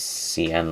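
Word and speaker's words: Sián: I'm guessing it's Sian, not Sean, because Sean wouldn't have the accent on the A.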